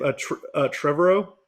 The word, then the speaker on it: Trevorrow: Trevorrow.